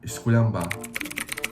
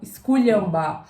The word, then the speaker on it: esculhambar: Inclusive, esse som de lhã, esculhambar, é um som que tá presente no idioma croata.